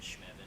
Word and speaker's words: Shmevin: It rhymes with Evan, Shmevin.